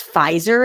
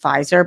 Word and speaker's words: Pfizer: Earlier in the week, BioNTech and I think it's Pfizer is how, I think the P is silent in this. I keep seeing it everywhere, Pfizer, but I think it's just pronounced Pfizer, but it could be Pfizer.